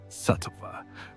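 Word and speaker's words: sattva: They called this state satva pronounced satva which means clarity, harmony and balance.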